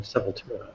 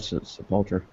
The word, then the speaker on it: Sepultura: They do it to friggin' Sepultura.